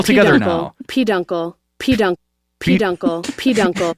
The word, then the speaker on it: peduncle: main stock of an inflorescence yep and it's pronounced P Dunkle that's uh yeah thank you oh peduncle that's thank you Dilo for hitting that button